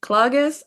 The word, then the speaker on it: Klages: Klages, am I pronouncing that right? That is correct. Both ways were correct.